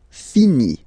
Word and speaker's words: finit: Il, elle finit. So IT, final T not pronounced.